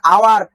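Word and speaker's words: hour: এইভাবে এটার উচ্চারণ আসছে অনেস্ট ম্যান, ও উচ্চারণ হওয়ার কারণে এখানে আমরা এন ব্যবহার করেছি। নেক্সট এটা আওয়ার, হাওয়ার না, আরে হাওয়ার না, এইচ কেটে দিতে হবে।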